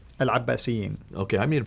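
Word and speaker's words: العباسيين: And the Abbasids, how do you pronounce it? Al-Abbasiyin.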